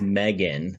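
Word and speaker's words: M3GAN: So if you haven't heard about Megan, and it's weird how it's spelled. It's like M and then a 3 GAN.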